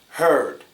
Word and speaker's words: heard: main difference is hurt heard hurt herd hurt is shorter heard is longer the ER sound is stressed over here hurt her hurt her